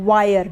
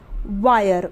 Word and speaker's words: wire: तो इसका उच्चारण नहीं होगा यानी कि ये साइलेंट रहेगा तो ये बन जाएगा व पे आ की मात्रा, य और र वायर, WIRE वायर।